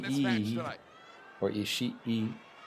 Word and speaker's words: Ishii: Tomohiro Ishii Ishii. keeping a close eye Not on this match Ishii tonight. or Ishii. It's Ishii. And I have the E sound like for like another second.